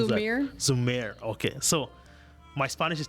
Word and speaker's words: Zhumir: How do you pronounce Zhumir. that? Zhumir.